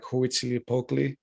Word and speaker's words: Huitzilopochtli: yeah, you're thinking about he has a hard name to pronounce, but I think it's like Huitzilopochtli. It's with an H though.